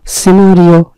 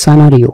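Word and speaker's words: scenario: মানে হচ্ছে বলির পাঠা সিনারিও নাকি সানারিও সানারিও উচ্চারণটা সানারিও এর অর্থ হচ্ছে দৃশ্য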